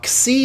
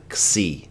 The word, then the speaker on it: xi: Now, xi is just one of those weird letters. It actually has like an X sound.